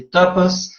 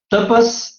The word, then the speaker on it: tapas: também vai falar de Tapas tampas e não tapas tapa a gente já sabe o que é né tampas a pronúncia em Santos tampas significa a gente traduz